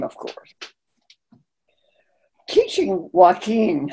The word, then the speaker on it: Joaquin: I told you it's ka-ko-ku, but the C before I and E is pronounced like a S sound. C-I is pronounced C. You would want to pronounce Joaquin Joaquin, would you?"